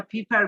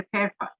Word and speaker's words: pepper: আমরা এটাকে এই যে অনেকে এই যে মরিচের ইংরেজি আমরা ফিফার বলি, তাই না? এটার উচ্চারণ হচ্ছে পেপার। অর্থাৎ ওই যে কাগজ, আমরা কাগজের যে উচ্চারণটা করি ঠিক ওইটা পেপার।